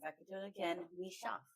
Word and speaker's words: Michaux: Michaux, right?